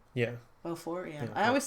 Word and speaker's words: Beaufort: that yeah you know if there's a T at the end of the word in French you just don't pronounce it it's just yes Jesus